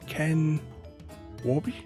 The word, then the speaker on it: Ken Warby: in a bit miles per hour set by ken warby is how you say his name that could